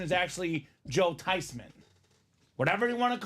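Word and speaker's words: Theismann: okay with it it's actually supposed to be pronounced tyman so it was a lie the whole time it wasn't thean it's not Theisman the proper pronunciation is actually Joe tysman whatever you want to call him he's a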